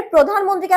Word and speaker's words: প্রধানমন্ত্রী: এই টানটা চার আলিফ টান দেয়া যাবে না। প্রধানমন্ত্রী। ঠিক আছে? কোন আলিফ টান দেয়া যাবে না। দুই আলিফও না চার আলিফ না। প্রধানমন্ত্রী। প্রধানমন্ত্রী। ঠিক আছে? আপনি ধ্যানে কখনো টান দিতে পারবেন না।